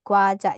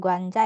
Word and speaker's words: 과자: 그리고 라면 3개 하고, nah ini 과자, jadi bukan guanja ya, 과자를 샀어요.